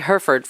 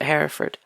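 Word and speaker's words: Hereford: No, I always thought it was herford shirt cuz we say herford for the cows. Oh, okay. They know Herford. We don't we don't pronounce it Heraford.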